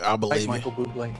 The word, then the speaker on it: Bublé: I believe Michael Bublé. It's pronounced Bublé. I know, thanks. Dave. It's Dave. Can I have your autograph, Mr. Bubbly?